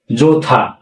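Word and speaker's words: 좋다: য এই বর্গ জয় করে য এই থা যোথা এর উচ্চারণ কি হবে যোথা কারণ কি বাস্তবে যখন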